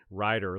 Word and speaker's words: Ryder: nina she says house rider used to rule the rills they're extinct now ryder like the uh moving trucks spelled with the y so house hurts was